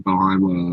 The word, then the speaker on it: Boeheim: Boeheim.